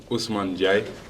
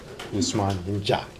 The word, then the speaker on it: Ousmane N'Diaye: Official pronunciation. Oh, my name is Ousmane N'Diaye. Ousmane N'Diaye.